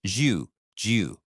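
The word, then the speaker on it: 九: Now for a number 47 is Ju. It sounds a bit like the name Joe but with a slight upward tone.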